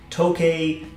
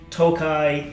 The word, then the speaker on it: Tokaji: Now, forgive my pronunciation, I've heard that pronounced as Tokaji, Tokay, Tokai, Takai. We're trying here. If you know how to pronounce it, put it in the comments below, but it's spelled Tokaji, so I'm gonna say Tokaji.